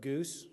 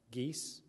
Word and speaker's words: Geis: call sign Goose um my last name is G GE i s often mispronounced geese geese Goose G my whole life